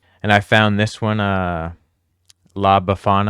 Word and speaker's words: La Befana: And I found this one, La Befana, I think is how you say it.